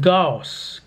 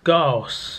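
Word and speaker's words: Gyaos: So it's pronounced Gaos. Gaos, I think. Like, they said it like 24 times in the movie and I've forgotten already. It's Gaos.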